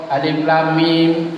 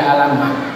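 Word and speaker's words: الم: Yang pertama berlaku bunyi huruf, makanya dibaca alif, makanya dibaca lam, makanya dibaca mim, bukan dibaca alamah. Karena rumus pertamanya berlaku bunyi huruf.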